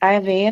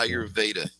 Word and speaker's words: Ayurveda: Ayurveda? Yeah. Ayurveda.